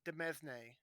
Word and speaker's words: demesne: Demesne, like domain or whatever.